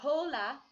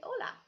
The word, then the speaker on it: hola: faith says hola so we don't say jolla you say hola and then there's another